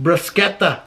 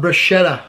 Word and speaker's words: bruschetta: person here's my grammar it's pronounced bruschetta not bruschetta true take that to